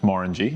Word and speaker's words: Glenmorangie: Glenmorangie, pronounced Morangie, as if you're saying orange, known for having the tallest necks in Speyside.